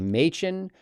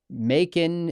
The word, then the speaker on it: Machen: Machen. Before I called it Macon and Machen. I think I've mispronounced his name every single time.